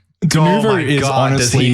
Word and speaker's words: Denuvo: That wasn't necessarily because of Denvo or whatever. Denuvo. Denuvo, Denuvo, tomato. I would have said Denuvo. Well, it's spelled wrong in the fucking notes, so.